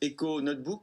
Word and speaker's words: econotebk: Merci beaucoup Stéphane Le Guen, cofondateur de Eco Notebook. Comment vous prononcez? EcoNotebook, c'est ça. Eco Notebook, voilà, vous voyez finalement. J'ai mal prononcé. Parce qu'il Désolée. manque, en même temps, il manque 2 O dans le nom de la marque.